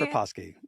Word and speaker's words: Proposki: I literally wrote down the pronunciation. I was like, all right, Scott, help me with it. But Scott apparently, Proposki.